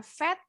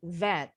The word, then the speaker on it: vet: Remember to pronounce the V with the vibration in your vocal cords. Pita suaranya harus bergetar. Jadi nggak boleh bacanya vet, tapi vet.